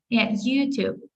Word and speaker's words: YouTube: Ну, тобто, ми вимовляємо назву соцмереж, наголошуючи перший склад. So we say Instagram, Facebook, TikTok, YouTube, content, laptop, internet. То ми ударяємо наголос на перший склад.